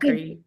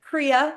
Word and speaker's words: Crea: So my name is Cree. It looks like Crea, but I like to say it's Cree like the sea. The A is silent.